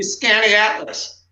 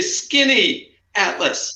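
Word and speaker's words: Skaneateles: name of this lake right well it's been mispronounced all the time it's supposed to be scanning atlas but everybody but everybody that i know and in syracuse they say skinny atlas correct yes so we're going to give you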